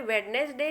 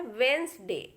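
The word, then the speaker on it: Wednesday: देखिए एग्जाम्पल, ये लिखा है, इसको हम आम बोलचाल में वेडनेसडे जरूर बोल देते हैं बच्चों, लेकिन प्रोनाउंसिएशन ये गलत है, ये बोला जाता है वेंसडे। वेडनेसडे नहीं बोला जाता, ये होता है वेंसडे। तो यहाँ पे डी को हमें नहीं बोलना होता है।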